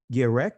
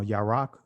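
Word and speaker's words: ירק: Yerek is how you pronounce it in the Israeli language, uh yarak um in ancient Hebrew.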